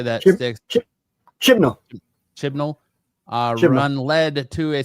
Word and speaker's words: Chibnall: Chibnall.